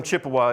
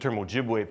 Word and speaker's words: Ojibwe: widely used term, but the term Chippewa is a mispronunciation of Ojibwe, is an error of history. Right? The people of the Ojibwe have always considered the appropriate name of their group to be Ojibwe.